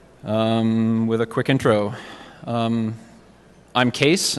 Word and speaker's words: Kees: a quick intro I'm case it's pronounced case the spelling is Dutch and it's my grandfather's